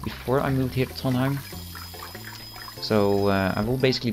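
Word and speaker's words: Trondheim: ever come to Norway you know how to pronounce tonim now oh okay he has the ability to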